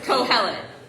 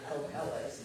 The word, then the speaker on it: Kohelet: First of all, how to pronounce this name that's coming up. Kohelet. Kohelet.